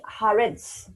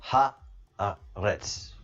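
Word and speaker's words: הארץ: Adoni Haaretz. So please help me in the pronunciations.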